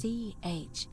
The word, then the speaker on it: Charon: You heard wasn't Karen. I didn't even think about it that. Was Charon. Nice. As in Charon, the ferryman of the dead. Charon, who in exchange for the right coin, They